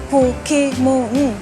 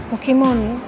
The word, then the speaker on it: Pokémon: Pokémon en caractère occidental on voit qu'il y a un e accent aigu donc ça évite de dire Pokémon ou Pokémon faut vraiment prononcer Pokémon Pokémon Pokémon d'où vient Pokémon